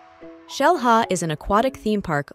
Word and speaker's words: Xel-Ha: It is pronounced as Xel-Ha because the name is in the Mayan language.